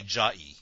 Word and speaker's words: Jai: I guess it's a bad time to announce that you've all been pronouncing my name wrong. My name is actually Jai. Oh, shit. Jai.